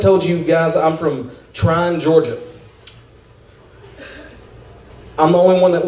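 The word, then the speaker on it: Trion: but everywhere I go if somebody reads off trying they mispronounce it is it's spelled t r io n trial but everybody goes tree hunt try on every try one tree hunt no no I'm trying like I'm trying to get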